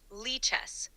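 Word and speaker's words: lichess: most convenient by the way is it pronounced Lee chess or liess it's pronounced Lee chess using a physical board or an online platform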